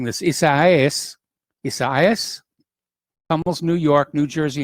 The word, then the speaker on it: Isaias: across the northeast as tropical storm i keep mispronouncing this is isaias almost new york new jersey and pennsylvania unleashing